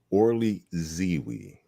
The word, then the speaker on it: Orly Zeewy: And all right, Orly Zeewy. Did I pronounce it right?